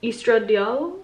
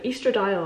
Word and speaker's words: estradiol: the most abundant is estradiol east red dial no easter dial i'm pretty sure that's how you say it my pronunciation gets